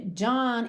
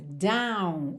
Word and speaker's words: dawn: Porque esse dawn, a gente tem D-A-W-N. Então, muitas pessoas diriam down, down, que acaba ficando parecido com down, D-O-W-N, baixo para baixo, ok?